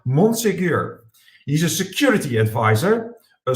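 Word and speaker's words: Monsegur: i have just experienced i need to pronounce it in the french way so it is hector monsigur he's a security advisor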